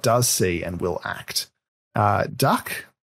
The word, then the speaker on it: dak: Duck, it's spelled D-A-K.